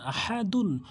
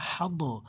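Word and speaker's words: أحد: বলে তালতি পেশ দুন আহাদুন অকফ করলে আহাদ অনেকে বলে হাদ আহাদ ভুল উচ্চারণ আহাদে বলতে হবে তো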